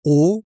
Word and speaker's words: aux: Et on utilise au, AUX, avec un nom pluriel. Mais attention, c'est la même prononciation qu'au singulier. Au.